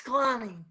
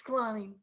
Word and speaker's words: Szklany: It's Scalani. That's what I thought. Basically, the Z is silent. Ignore it. And it's Scalani. It's a very quiet Z.